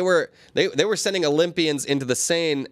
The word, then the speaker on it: Seine: Hey, man, they were sending Olympians into the Seine. The Seine. That's how you say it in Paris.